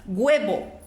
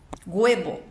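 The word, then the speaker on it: huevo: que um chileno pronuncia guebo guebo ele pronuncia esse hu e como se fosse um G guebo claro que para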